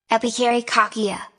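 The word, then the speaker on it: επιχαιρεκακία: The ancient Greek word is pronounced Epikarikakia.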